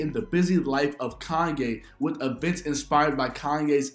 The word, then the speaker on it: Kanye: Kanye. Oh, I'm from Ohio. We say Kenny. That's how we pronounce it. Well, I don't care where you're from. You pronounce my name Kanye.